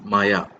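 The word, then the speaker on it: Maja: Lunde even though uh the first part of her name is spelled as m a j a you have to pronounce it as Maya okay so we have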